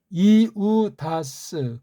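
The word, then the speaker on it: Ἰούδας: 그래서 이게 이우다스 그렇게 발음해야 맞습니다.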